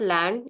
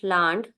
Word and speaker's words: Land: is singular is called land this is not land a gives a sound of a so this is land and its article is